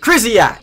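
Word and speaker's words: Krysiak: Pronounced Krizyak. I know I've got that one right, as my wire's going flying, but I know I have got that right.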